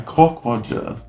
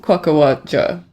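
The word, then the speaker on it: quockerwodger: Oh, there's pronunciation. Oh. Quokkawadja. Southern England. Quokkawadja. Quokkawadja. Very English. Quokkawadja. Quokkawadja. Quokkawadja. Obviously an English word then. It sounds very British.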